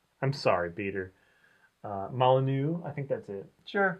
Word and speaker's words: Molyneux: It's Molyneux. I'm sorry, Peter. Molyneux, I think that's it.